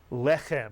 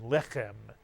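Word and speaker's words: לֶחֶם: And anytime you see a word with 2 segols, the accent is always on the first segol. Normally, Hebrew words are accented at the end of a word, but not in a word with two segals, and therefore this word would be pronounced lechem, mitsuyan, lechem. The chet is the second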